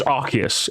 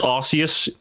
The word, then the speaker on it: Arceus: It's Arceus. Anyone who says Arceus, go to bed.